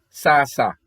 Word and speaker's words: sasa: a tsa satsa and the female word for you is sasa sasa spelled s-a-s-a so let's continue this